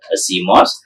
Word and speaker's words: CMOS: uh metal oxide semicond device which is generally pronounced as seos seos is a type of moset so in the